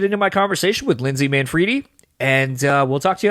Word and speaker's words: Manfredi: I mean, everybody says Manfredi, because it looks like Manfredi, but, it's Italian, and it's Manfredi, but it's okay.